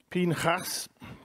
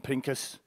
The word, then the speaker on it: Phineas: Phineas. Now, I never pronounce his name like that. I always call him Pincus.